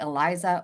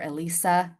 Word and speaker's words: ELISA: And I don't care if you call it Eliza or Elisa. I don't care how you pronounce it as long as you know it's